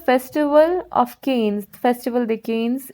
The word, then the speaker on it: Cannes: This is the Festival of Cannes, Festival de Cannes. It is how it is pronounced there in France.